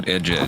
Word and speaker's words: Buttigieg: I had to train myself to pronounce it right. Hi, how old are you? Buttigieg.